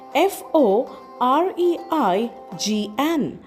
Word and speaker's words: foreign: The next word we have is foreign spelled as f o r e i g n and we pronounce it as f o r e i n foreign.